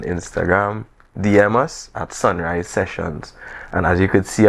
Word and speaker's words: Seshuns: Just message us on Instagram, DM us at Sunrise Seshuns. And as you could see on the screen here, it's spelt how it sounds. So it's Sunrise, SESHUNS.